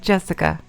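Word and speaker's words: 朱志香: Anyway, Blah is pronounced Jessica.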